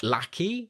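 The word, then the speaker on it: Lachy: Now, now this is pronounced lack. Lackey.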